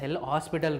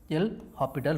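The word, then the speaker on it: L'Hôpital: S is silent. Okay. L hospital rule or hospital rule also people say L hospital rule. L orital rule.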